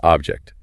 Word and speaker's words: object: Sentence three, I object to that object. Notice that quick glide over the OB in the verb versus that sharp hit on OB in the noun.